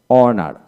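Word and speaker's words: honour: ই time time তারপর অনার অনার এইচ উচ্চারণ হবে না আওয়ার ও ইউ আর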